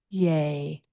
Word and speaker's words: Ye: What you'll see there is that Y-E, the final E is pronounced as the syllable A-Y, Yay.